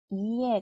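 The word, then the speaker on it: いえ: 뭐가 올까요이가 오죠 e 그래서 아니오는이 에라는 단어가 있는데이 이해라고 발음을 해요 이에 근데 같은 글자가 두 글자라 두 번 발음하는 것처럼 들리겠지만 실제로이 규칙에 따라 뒤쪽에 있는이이이가 두 번째는이가 소리가 안 나고 앞에 있는이가 두 두 박자가 되는 거예요 그래서 총 세 박자 글자요 이에 이에 자 요거는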